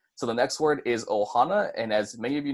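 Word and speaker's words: ʻohana: start of the word so it's gonna be pronounced Ohana instead of just oh ha no I know it's kind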